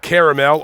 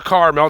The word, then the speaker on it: Carmel: we are at the Mount Caramel or Carmel depending on how you want to pronounce that Cemetery here at Hillside